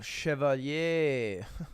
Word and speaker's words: Chevalier: Oh, Chevalier.